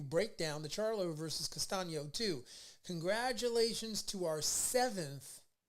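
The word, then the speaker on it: Castaño: charlo versus castillo castano and or castano that's how you say his name sorry about that all right don't don't get me castano okay i got it it took me two times but i got your name right um yeah man so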